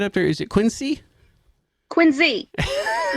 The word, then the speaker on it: Quincy: Quincy.